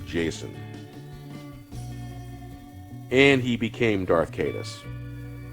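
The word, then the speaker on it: Jacen: In most Celtic languages, the C is pronounced as a K, and my first natural reaction to produce this name as Jaqen Solo, not Jason.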